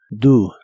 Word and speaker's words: do: El auxiliar do lo pronuncias como si la o fuese una u. Do, do.